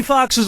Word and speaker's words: Foxx: Jamie Foxx's last name has 2 X's in it. The first X is silent.